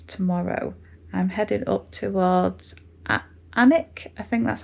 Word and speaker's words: Alnwick: I'm heading up towards Anic. I think that's how you pronounce it. Um, it's a Alwick on the map, but they don't pronounce the L and the W because I think in Northland it's means dwelling.